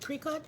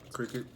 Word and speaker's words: Cricut: And my fiance bought, I think you pronounce it cricut. Cricket.